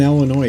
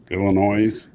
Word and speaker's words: Illinois: know how it's pronounced drives me nuts when people pronounce the s um Illinois he would be one